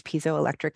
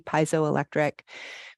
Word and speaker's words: piezoelectric: know about the body's piezoelectric energy, piezoelectric, people pronounce it both ways.